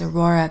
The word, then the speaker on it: Saguaro: create some of those segura cactuses i think they're called it's it's got a g in it but it's so it's hard to say um you don't pronounce the g it's aurora cactus and the arms